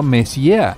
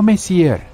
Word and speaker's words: Messier: y m43 bueno jovencita la m significa mess pronunciado mess no messier Charles mess para ser